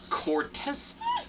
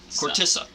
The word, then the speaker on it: Khortytsa: apparently, how are we pronouncing this again? Oh, Khortytsa. Khortytsa.